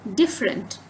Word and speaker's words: different: Different. The stress is on F, not R. Okay. Different.